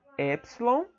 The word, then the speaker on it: epsilon: Então você tem o epsilon, que também tem som de E, só que como se é pronunciado como se tendo um acento agudo, epsilon, tá? E eta, um som fechado, como se tivesse um acento circunflexo, tá?